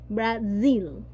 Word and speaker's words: Brazil: Yes, la pronunciación es Brasil, ¿no? La S, la Z que está por ahí se vibra, ¿no? Z, Brasil.